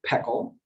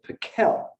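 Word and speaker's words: Pekel: people ask it so it's spelled p-e-k-e-l and my grandparents pronounced it peckle they lived in monash wisconsin their their whole lives and when my dad who grew up there did an internship in jersey city new jersey in college people there most of whom were african-american put the accent on the second syllable and pronounced it piquel i think thereby sort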